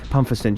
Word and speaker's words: Pumpherston: Do you think clubs like this, it's Pumpherston, right? Is that how you pronounce it? Yeah. Yes. Pumpherston.